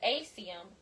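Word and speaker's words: acetum: If you want to make yours a asium, I don't know why it's pronounced that way, but that's the way I've heard it said.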